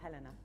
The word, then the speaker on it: Helena: Helena or Helena? Helena. Yeah, it's the German pronunciation.